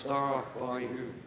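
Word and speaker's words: Stabyhoun: Pronounced Star by Hoon, the kennel club name.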